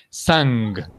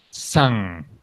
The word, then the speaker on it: sang: No se Les voy a decir primero cómo no se pronuncia. No se pronuncia así. Sang. That's not correct. Sang. Tú escuchas mucho eso, pero así no se pronuncia. Se pronuncia aquí así. Sang.